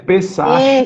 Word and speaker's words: Pessah: Escreve Pessah, Passache e fala Pessah.